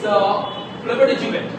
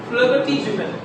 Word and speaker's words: flibbertigibbet: What they pronounce? Asthma. Asthma, right? Next word is FLIBBERTIGIEET. Okay? It's flibbertigibbet. What is that? Flibbertigibbet.